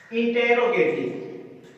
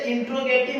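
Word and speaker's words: interrogative: ठीक है, इसके बाद हमारा आता है इंटेरोगेटिव। अब देखो इंटेरोगेटिव, वैसे इंट्रोगेटिव हम पढ़ते हैं, लेकिन इसका जो सही उच्चारण क्या होता है, इंटेरोगेटिव सेंटेंस।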